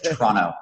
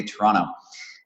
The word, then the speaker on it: Toronto: You can actually notice that I'm from Toronto because I don't pronounce the second T, so it's Toronto. Those that are from Toronto say Toronto.